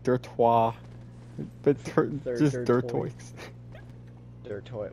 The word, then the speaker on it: Dirtoix: three of them like i was pronouncing it in my head like lacroix when the silent x at the end and it makes it